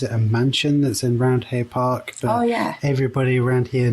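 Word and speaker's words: Roundhay: I've also found that they don't pronounce it round they say Roundy which is I mean it's just localism right but I think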